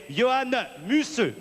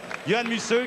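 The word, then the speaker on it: Johan Museeuw: les Champs-Élysées comme disent nos nos amis néerlandais Johann musseux paraît-il que c'est comme ça que ça se prononce Johann musseux qui est le sprinter nous avons également Sami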